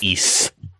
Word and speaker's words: Ys: if they to in according to the kana this is pronounced East that's because it's based